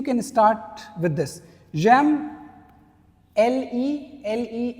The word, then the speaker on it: le: J'aime, L-E is pronounced as le, okay, so j'aime le cricket, I like cricket, I love cricket.